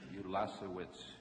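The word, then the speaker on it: Ulasewicz: can I interrupt a second the cor correct pronunciation is ulas witz ulas witz yes sir all right you did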